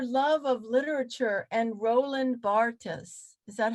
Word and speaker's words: Barthes: But your love of literature and Roland Barthes, is that how you say his name?